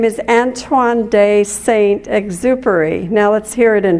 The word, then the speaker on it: Antoine de Saint-Exupéry: The author's name is Antoine de Saint-Exupéry. Now let's hear it in French. Antoine de Saint-Exupéry.